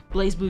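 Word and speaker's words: BlazBlue: verify if somebody was speaking the right language blaze blue yes okay so I'm saying it right for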